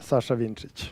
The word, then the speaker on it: Vincic: Is that how you pronounce it, Sasha? Yeah, Sasha Vincic.